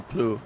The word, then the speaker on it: plough: Because they don't say plow, they say plough. If you don't believe me, look to see how it's spelled. P-L-O-U-G-H. That's plough, that's not plow.